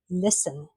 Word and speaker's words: listen: Listen. So climb is a silent B. Whistle. We don't pronounce the H. Whistle. Whistle. And listen has got a silent T.